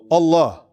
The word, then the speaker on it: Allah: Allah, right? Allah. Now, if you were to say the last vowel on it, like if you want to say in the adhan, we say what? Allah, right?